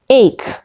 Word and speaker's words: eight: c is not pronounced number eight eight eight in the word eight ha is not pronoun h is not pronounced now this exercise you